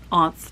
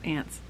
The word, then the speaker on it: Aunts: I pronounced it like that, you know. Aunts, not ants.